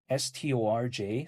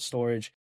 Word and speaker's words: Storj: Now, Storage is spelled like STORJ, so sometimes people call it Storj, sometimes people call it Storage.